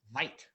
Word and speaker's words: White: side called white avenue it's not pronounced v it's white originally and she was